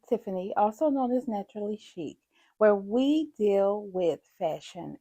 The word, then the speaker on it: Shycc: Chic is spelled SHYCC, but it's pronounced chic.